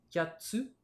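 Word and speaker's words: 八つ: yotsu, itsutsu, mutsu, nanatsu, kyatsu, kokonotsu. Alors vous voyez, pour 3, 4, 6 et 8, on a une petite pause qui se rajoute dans la prononciation.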